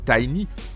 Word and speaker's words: Tiny: d'abord sur la prononciation je prononcerai toujours tiny pour ce jeu de rôle puisqu'il s'agit du nom